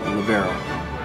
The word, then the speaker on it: libero: I would pronounce that libero.